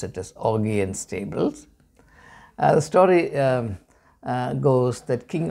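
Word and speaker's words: Augean Stables: stable but I prefer to call it a pronounce it as Augie and Stables The Story Goes that King Augie is had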